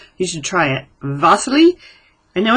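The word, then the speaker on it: Wassily: you should try it vas I know it's a w but it's Russian and in Russia they pronounce their W's with a V sound so vas Kandinsky I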